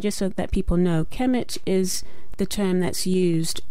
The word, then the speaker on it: Kemet: and when the Greeks went into Egypt they pronounced Egypt as sounding like Egypt but that area of Egypt is known as kamet so that's that's why we have different names